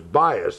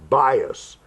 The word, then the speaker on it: Buis: bias I love the way that name is bias it's buis but you have to switch the vows and pronounce it bias and she is the director of Christian education